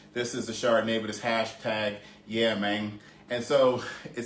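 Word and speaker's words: Yeamang: say hey man but it's like with it sounds like with a g so this is hashtag y e a m a n g um like i guess you say it like it is like yeah man so this would be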